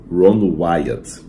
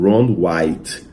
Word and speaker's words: Ron Wyatt: Aliás, até interessante, uma curiosidade para os adventistas, o nome dele era Ron Wyatt. Ron Wyatt. Mas pela má pronúncia em português, alguns confundiram como Ron White.